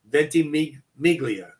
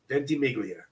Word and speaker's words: Ventimiglia: Milo Ventimiglia. Ventimiglia.